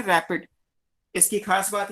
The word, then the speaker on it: RAPD: Clear, इसको pronounce करते हैं रैपिड।